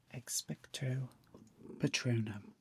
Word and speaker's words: Expecto Patronum: So the way you pronounce it is Expecto Patronum. Yeah, you have a go. Expecto Patronum.